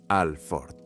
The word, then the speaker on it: Alford: Se pronuncia Alford, como los coches.